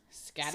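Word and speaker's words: Skadi: a daughter Scotty I think her name is Scotty Scotty not spelled like that but everything sounds like you know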